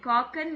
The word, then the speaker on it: kochen: KOCHEN. காக்கன். But mostly CH வந்தா இஷ்ன்னு தானே ma'am pronounce பண்ணுவோம். அது எல்லாத்துக்கும் வராது. எந்த இடத்துல இஷ்யூ வரணும், எந்த இடத்துல இக்கு வரணும் போக போக தெரியும். இங்க வந்து காக்கன்.